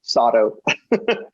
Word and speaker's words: Sato: It rhymes with auto, Sato.